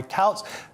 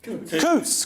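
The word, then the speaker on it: Coutts: In one of the most notorious cases, reform UK leader Nigel Farage was dropped by Couts Couts Coots Coots, which is I don't know, that's far too rich for me.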